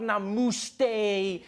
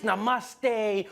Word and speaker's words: Namaste: coming on like dude it's not Nam it's Namaste who messes up Namaste says Nam but to those Indians